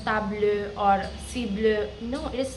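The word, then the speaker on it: tableau: So it is like tab because e a u makes a sound of so tablo and not while the spelling is t a b l e.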